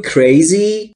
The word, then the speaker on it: crazy: Are you crazy? Crazy یعنی دیوونه. Are you یعنی هستی. Are you crazy؟ مگه دیوونه شدی؟ مگه دیوونه ای؟ دوستان توجه داشته باشید تلفظ crazy. نمیگم crazy. ای نداره اولش. Crazy.